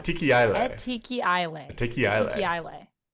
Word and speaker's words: Etikaye: So chat, I and we've say never known how to pronounce it. Etikaye. So not too far off. Tiki Isle.